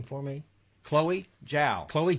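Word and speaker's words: Zhao: name for me chloe jowl chloe chao chloe chow she's british it's spelled with a z but it's jowl it's chow it spells z-h-a-o um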